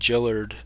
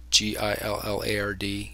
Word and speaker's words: Gillard: You go to my channel, just Google my name, Gillard G-I-L-L-A-R-D. It's pronounced Jill, like the girl, soft G, not Gill, like the fish.